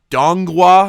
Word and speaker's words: donghua: show on on netflix it is a dongwa i believe it's how it's pronounced which essentially is the